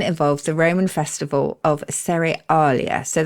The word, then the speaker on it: Cerealia: There are many theories as to its beginnings, and one involves the Roman festival of Cerealia. So that's spelled like cereal, but with IA at the end.